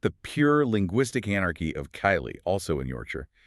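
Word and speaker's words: Keighley: But then we hit the pure linguistic anarchy of Kylie, also in Yorkshire.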